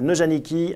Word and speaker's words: Neujanicki: J'ai tendance à le prononcer à l'allemande, mais non, c'est Neujanicki, avocat à la Cour de Paris.